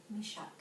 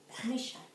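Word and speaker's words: Meshech: Meshach. Meshach.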